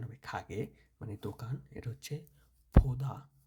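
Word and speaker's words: 가게: এটা হচ্ছে খাগে, এটা উচ্চারণ হবে খাগে মানে দোকান।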